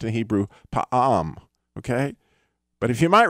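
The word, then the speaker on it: פעם: And it's actually pronounced in Hebrew, pa'am, okay?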